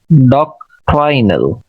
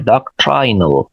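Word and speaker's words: doctrinal: ये ऊपर वाला वर्ड है डॉक्ट्रिन, ये डॉक्ट्राइन नहीं है, डॉक्ट्रिन, डॉक्ट्राइनल, डॉक्ट्राइनल, सेकंड सिलेबल पे स्ट्रेस है, डॉक्ट्राइनल।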